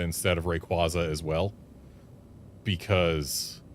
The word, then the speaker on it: Rayquaza: a in there and quazar isn't spelled like the quaza in Rayquaza and like yeah, just all of that. It felt wrong to pronounce it Rayquaza, but uh as soon